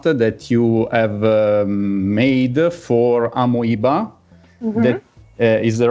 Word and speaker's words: Amoeba: is a format that you have made for amoeba that is the right pronunciation it's close it's amoeba amiba amiba okay amoeba that is a one of